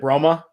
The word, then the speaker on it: Bromma: He's coming from Bromma, Sweden. I think that's how you say it. Correct me if I'm wrong, Jacob. But he is it Bromma? Yep, outside of Stockholm.